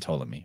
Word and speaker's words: Ptolemy: you something you know Ptolemy they don't even pronounce the p and Ptolemy right so if you